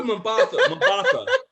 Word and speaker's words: Mbatha: person is, but bro, her name is Google Mbatha. There you go, Google Mbatha Raw. That's her name. Exactly. If you pronounce the M.